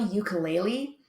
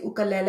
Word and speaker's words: ukulele: while we're on that it is not a ukulele it is gelila and the reason that we say oka lily and not ukulele is that ukulele is the